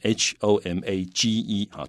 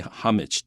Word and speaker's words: homage: the chances using how h-o-m-a-g-e-r to play homage to and note that many people do not pronounce the h they say homage to